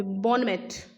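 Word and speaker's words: bon mot: Okay okay okay, बॉनमेट, ठीक है, बॉनमोट, बॉनमोट, बॉनमोट कहा जाता है कमेंट को।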